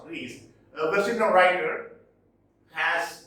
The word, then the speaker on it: Rhys: Now, a postmodern novelist, Jean Rhys, though written Rice, it is pronounced Rhys, a West Indian writer, has written a novel based on this, Jane Eyre.